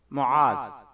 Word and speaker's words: معاذ: منتخب کیا جاتا ہے۔ تلفظ: معاذ، میم پر پیش، عین پر زبر، ذال ساکن، یعنی میم پیش مو، عین الف عا، ذال موقوف، معاذ۔ سپیلنگ: اس نام کے